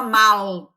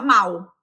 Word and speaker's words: mal: O brasileiro, ele não fala, por exemplo, o mal com L, ele pronuncia igual ao mal com U. Ele não fala mal, ele fala mal, não é?